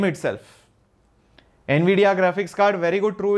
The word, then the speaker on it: Nvidia: v d e a just go with the pronounciation Nvidia Nvidia current is NVIDIA that's it that's very easy